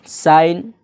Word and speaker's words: sign: जहाँ पर भी जी के बाद एन हो जाए वहाँ पर जी साइलेंट हो जाता है। जैसे SIGN साइन।